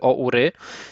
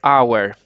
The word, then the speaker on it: hour: wiecie, jak macie hour, to nie czyta się tego o ury, tylko czyta się hour, czyli tak byśmy mogli sobie na szybko po polsku napisać, czyli jako, że godzina, czyli nie czytamy hour, tylko czytamy hour, tylko że ten temat,